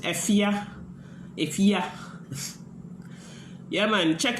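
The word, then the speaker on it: Fefye: the singer is f-e-f-y-e i i pronounce it effia if yeah yeah man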